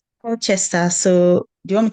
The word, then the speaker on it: Colchester: Colchester. Did I get that pronunciation right? Colchester. Shout it for me. I want to get it right. Colchester.